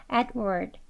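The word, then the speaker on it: Edward: 보겠습니다 adw adw네 adw 두 소리 아주 약하게 발음 되어져서 하시면 돼요 adward 이렇게요 그다음은 드 소리까지 다 들리지 않게 adward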